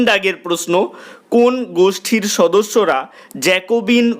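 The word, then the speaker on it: Jacobin: জ্যাকোবিন 100 দাগের প্রশ্ন জ্যাকোবিন এর ফরাসি উচ্চারণ কি উত্তর লিখবে জ্যাকোবা 101 দাগের প্রশ্ন কোন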